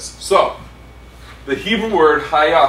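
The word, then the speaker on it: היה: So, the Hebrew word haya, how do you say it? Anya?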